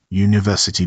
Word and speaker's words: university: University begins with the letter U, but you say university, and that U is a consonant sound, so it is a university, not an university.